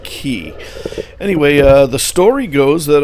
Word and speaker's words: Key: But as you can see, we got over to Norman Key over here. I keep saying K because that's how it's spelled, but I think it's pronounced Key.